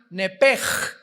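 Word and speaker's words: נפש: en el hebreo es nepesh, se pronuncia nepej, la CH en hebreo se pronuncia como J, nepesh, murió.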